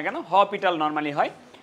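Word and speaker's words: L'Hôpital: এই রুলটা দিয়ে করব এটাকে উচ্চারণ করা হয় হেটাল রুল বা অনেকে বলে ল পিটাল রুল হ্যাঁ আর লেখা হয় হসপিটাল ওকে যে যাই বলুক না কেন হপিটাল নরমালি হয় তো এই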